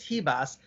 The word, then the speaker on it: Ribas: Man, Amanda Ribas, that's how you pronounce it, is Ribas.